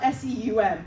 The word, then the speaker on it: Seum: Seum, it's spelled S-E-U-M, but she pronounces it Seum.